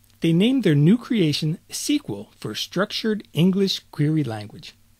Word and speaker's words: SQL: We can create a query in Design View, use Wizard to create query, or create query in SQL View, which some people might pronounce as SQL View.